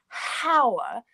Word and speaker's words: hour: Because it's the pronunciation. So we don't say hour, we say hour, which is a vowel sound.